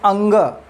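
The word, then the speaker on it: ङ: अगर मैं बोलता हूँ क ख ग घ अंग, बहुत से लोग अंग की जगह अण बोलते हैं, गलत प्रोनाउंसिएशन है, ऐसा प्रोनाउंसिएशन नहीं करना चाहिए, आप लोग इसको सुधार लीजिए।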